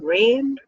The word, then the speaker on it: Reign: memory and from and it's not spelled raim it's spelled re IgM you know like a king in reigning queen rain okay so Alicia is